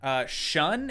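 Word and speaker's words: Shaan: Shun is how it's pronounced? Is it? How is it spelled? Now I have to go back and look. It was S-H-A-A-N. That's pronounced shun.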